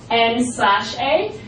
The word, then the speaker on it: N/A: N-A. So it's expressed in written English N/A, but we just say N-A.